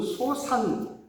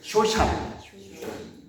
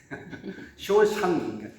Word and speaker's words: 쇼샨: 이것은 소산, 쇼샨인데요. 바로 쇼샨이에요. 발음이 힘드네요. 쇼샨. 쇼샨.